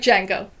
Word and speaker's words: Django: Just like Django. Wow. The D is silent.